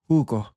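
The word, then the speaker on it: jugo: Notice how the letter J doesn't sound like a J at all. It takes on this sort of breathy H sound. And this is uniform throughout the whole language. So it's always going to be pronounced this way.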